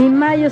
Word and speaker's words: Mallo: Y Mayo se escribe como gallo, L-L-O, Laboratorios Mayo.